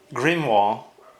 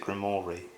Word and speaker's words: grimoire: that, Holy Cross, Helmet, Grimoire is how I've been told it's supposed to be pronounced, but I hear everybody pronounce it Grimoire.